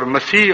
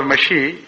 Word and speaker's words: مسیح: اور مسیح اور مشی یہ ایک ہی چیز کے دو تلفظ ہیں، اور بعد میں بھی